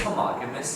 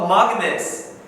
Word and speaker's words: homogeneous: Oh, homogeneous! That's not how it's pronounced, but that is how it's spelled. Oh. Homogeneous.